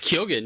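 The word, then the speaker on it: Keoghan: do you pron you you know how to pronounce his last name correctly it's kyogen yeah yeah we were right this whole time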